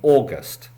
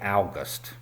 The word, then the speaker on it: August: The next word, another month, is AUGUST - many people go on holiday in AUGUST. Do not say OWGUST ! It is definitely AUGUST.